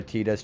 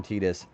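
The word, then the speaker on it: Tidus: You're a Tetas truther. I mean that's actually how it's pronounced in Didia. Yuna even calls him Tetus. Even though the whole water thing with Titus actually fit a lot better, I think.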